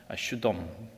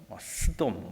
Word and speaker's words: 소돔: 소돔이라는 말은 본래 발음은 슈돔 또는 샤돔, 스돔 이렇게 발음합니다. 그러니까 소돔 이렇게 딱 그렇게 발음은 나지는 않습니다.